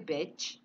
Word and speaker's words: bitch: Yes, you bitch. Jadi I-nya pendek, bitch.